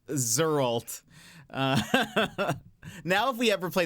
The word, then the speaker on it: Geralt: don't know is the the creator of Gerald pronounces It Gerald so it's actually pronounced zalt now if we ever